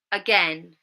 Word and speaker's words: again: It's on the second syllable.